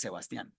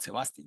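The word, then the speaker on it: Sebastián: but I don't care my name in Colombia is Sebastian it's not Sebastian like the accent it's at the end well then but 12200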